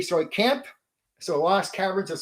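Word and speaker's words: Tsojcanth: S4, the Lost Caverns of Now, it's pronounced two different ways. Soy Kent or soy j. I'm going to say soy or soj. Soy camp or so. I'm going to say soy camp.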